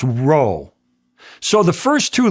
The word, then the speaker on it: rho: The second word was a P and it was pronounced row.